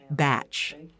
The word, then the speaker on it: bach: is called a batch it's spelled like Bach but pronounced batch I think you need